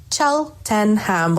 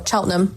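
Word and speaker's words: Cheltenham: Um, in Cheltonham. So, that's how it's pronounced just so you know for next time. Chelenham or Chelnham as we say here.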